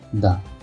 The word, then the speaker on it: the: তাহলে যেহেতু সিটা কনসোনেন্ট, তাহলে আমরা এই দিয়ে উচ্চারণ করব দা কাউ ইজ a domestic animal. কারণ আমরা নিয়মে বলছি যে প্রথম অক্ষরটা যদি কনসোনেন্ট থাকে, তাহলে এটা দা, আর ভাওয়েল থাকলে দি হবে।